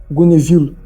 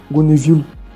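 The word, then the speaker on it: Gonneville: de Gonevilo. Gonevilo se escreve G O N E V I L L E.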